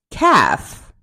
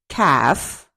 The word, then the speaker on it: calf: Bomb, bomb, calf, calf, calm, calm, chalk, chalk, could, fork, fork, half, palm, salmon, should, talk, walk.